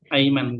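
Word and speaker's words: أيمن: Jadi tergantung kalau Hamzanya di bawah, dia berarti dibaca kasroh. Kalau di atas, dia A. Aiman.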